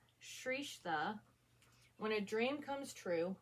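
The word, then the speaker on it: Srestha: So part 1, Shrestha, when a dream comes true, but not for the dreamer. So it shows how to pronounce it, Shrestha.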